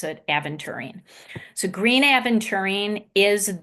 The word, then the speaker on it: aventurine: and then green aventurine some people pronounce it adventuring I pronounce it aventurine so green a urine is the Abundant Crystal